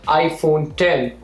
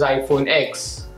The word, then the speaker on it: iPhone X: which is incorrect similarly the iPhone 10 shouldn't be pronounced as iPhone X now that we have